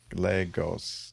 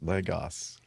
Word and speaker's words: Lagos: It's got 2 whole syllables. Lagos. Lagos.